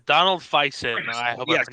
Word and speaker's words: Faison: I'd have to say, Donald Faison. I hope Yes, I pronounced John, that thank correct.